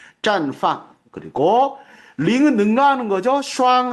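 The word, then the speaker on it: 绽放: 발음 조심하시고 띵자가 아니라 짠이에요. ZHA에. 그래서 绽放.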